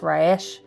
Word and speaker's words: Resh: Yeah, it's spelled Resh, but it's pronounced Rayesh.